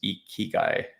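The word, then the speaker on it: ikigai: how to pronounce um uh uh this is e ki guy this is how you pronounce it here yeah but yeah i i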